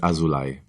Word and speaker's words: Azulay: last name here uh the pronunciation is azulai yes okay I've seen